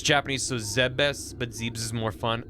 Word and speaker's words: Zebes: I always pronounced it Zebes. I think in the games they call it Zebus. I just like Zeebs.